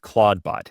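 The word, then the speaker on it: Clawdbot: This is spelled C L A W D B O T. So claw like a crab has a claw then D then bot.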